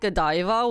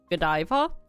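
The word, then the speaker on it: Godiva: know that Thea was pronounced gadaa I thought gadiva was pronounced Kiva because in Korea they pronounce it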